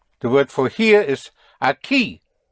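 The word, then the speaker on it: aquí: The the K sound in Spanish is spelled with a Q U. So a key would be spelled A Q U I with an accent. The accent where over the I, right?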